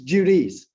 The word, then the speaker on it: Judice: but he wants to give you the correct pronunciation. It's Judice. no, go ahead. Hi. Say it again. And however you like. No, tell him what you say. It's Judice. Judice.